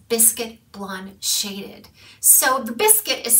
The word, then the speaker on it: Bisquit: right now this biscuit blonde shaded so the biscuit is spelled b-i-s-q-u-i-t if the information is correct and